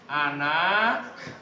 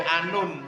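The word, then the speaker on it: أنا: Ana thibun ana ya. Ana bacanya ana. Enggak boleh anun ya.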